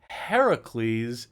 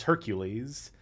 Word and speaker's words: Heracles: I'm hyper-pronunciating it because I keep wanting to read this as Hercules, but it is not. This is one of the only cases where it literally is spelled out Heracles.